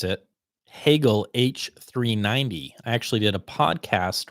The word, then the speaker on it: Hagel: I learned how to pronounce it. Hagel H390.